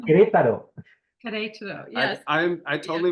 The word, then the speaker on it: Querétaro: Querétaro. Querétaro. Querétaro. Yes. I totally butchered that.